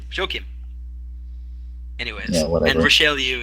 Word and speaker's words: Joachim: No, it's not Joaquin. It's the German form, Joachim.